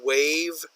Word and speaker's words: waive: delivery fees if you wave something W AI ve that is pronounced just like wave but wave here means